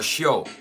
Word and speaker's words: Sheol: And for those of you that aren't familiar with the concept of Sheol, or Sheol, depending on how you want to pronounce it, this is the realm of souls.